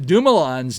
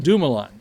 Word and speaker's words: Dumoulin: And I have been mispronouncing the Dumoulins name because it's not Dumoulin. Now, it's Dumoulin.